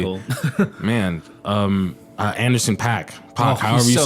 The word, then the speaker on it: Paak: Man, Anderson Paak, Oh, however he's you so say good. it. Yeah, it's That Paak. dude, Paak, Anderson Paak. That No, it dude, is Pack.